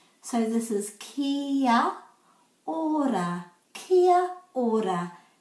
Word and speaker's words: kia ora: kia ora kia ora but most times when you hear a maori people person saying it you'll hear them say so they're putting the a and the o together to make ao that's how to pronounce kiara kakite